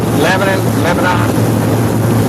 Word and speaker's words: Lebanon: Lebanon. I guess it'll be where you're from, how you pronounce it.